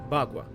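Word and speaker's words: bagua: The ground is paved with gravel into which white marble tiles are set forming a boua parade. That's how you pronounce it. Bagwa.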